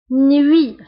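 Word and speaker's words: nuit: نوي. فسابقا قلت ان او اي كتقرا وي وي نوي نوي. هنا تي في اخر الكلمه لا ننطقها نوي.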